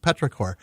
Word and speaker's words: petrichor: to make sure, but it is pronounced petrichor.